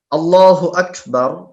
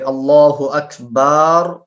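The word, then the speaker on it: الله أكبر: আল্লাহু আকবার এই শব্দটা উচ্চারণ করতে গিয়ে তারা বলে আল্লাহু আকবার, বাতে টান দেয়।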